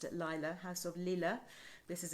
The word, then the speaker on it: Lilah: in capitals liz loves go to house of lila sorry i pronounced it lila house of lila this is it l-i-l-a-h and